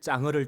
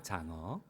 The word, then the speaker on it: 장어: 거물로 잡은 바다뱀, 물뱀 짱어를 줄 수가 없어요. 여러분, 여기서 뱀은, 제가 발음을 잘못했네요. 지난번에 깨구리 했는데 아무도 못 알아듣는 거예요. 개구리를 왜 깨구리라고 하느냐고. 여러분, 그래서 오늘 제가 짱어라고 했는데 장어입니다. 장어.